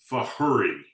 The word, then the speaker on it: Fajuri: The easiest way to think of it is like you're in a hurry. Fajuri. Like you're in a hurry. Is because it's from Chile. Correct. It's wonderful. the Spanish pronunciation of the J, Yes. Okay. as opposed in the American or French.